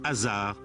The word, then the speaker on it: Osiris: À sa mort, le roi ne fait plus qu'un avec le dieu de la mort, Osiris, dont le nom se prononce Azar en ancien égyptien.